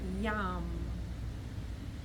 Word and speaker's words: Yam: It's pronounced Yam.